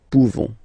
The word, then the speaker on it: pouvons: You don't pronounce the final S. Nous pouvons.